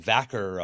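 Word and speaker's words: Vaquer: Is it Ver? I've been saying it wrong the whole time. Stephanie Vor. Yeah. Yeah, but they've been they were saying Vaker on the back air.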